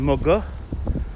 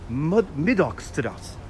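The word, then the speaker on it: Middagh: But how to say the Dutch way is Middagstraat. Middagstraat. Middag. But us Brooklynites call it Moga.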